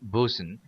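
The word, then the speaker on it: boatswain: at least since 1868 phonetically spelled and pronounced bosen is in charge of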